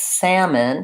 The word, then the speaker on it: salmon: the off walk calm but salmon has the vowel a like that cat and then we also